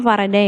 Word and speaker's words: Faraday: Jadi ketika kalian itu bacanya harusnya Faraday ya.